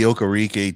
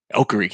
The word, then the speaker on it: Okereke: And you got Bobby Okereke too. Okereke, yeah.